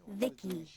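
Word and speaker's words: VICI: By the way, I'm V-I-C-I, pronounced Vicky.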